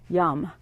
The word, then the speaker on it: Yam: heart and mind and the mantra associated with the heart chakra is why a.m. which is pronounced YUM but it looks like yam like a potato and